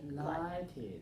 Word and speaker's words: highlighted: let's try it again to keep the stress High highlighted okay where is the stress when I say the word highlight where's the stress two one right High Line right highlighted I highlighted the main